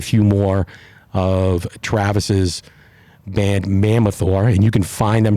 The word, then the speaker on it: Mammothor: It's Mammothor, Mammothor. It's probably not the best name, actually, in retrospect, because nobody can say it or spell it. Mammothor. But it's Mammoth and then OR at the end.